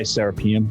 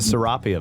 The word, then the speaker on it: Serapeum: serpent podcasts and uncharted x going through the serapium is that how you pronounce it i'd say serapeum okay we've always called it the seraphim yeah seraphim but we're always pronouncing stuff wrong